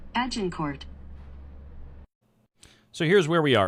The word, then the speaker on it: Agincourt: Why do you pronounce the T in Agincourt?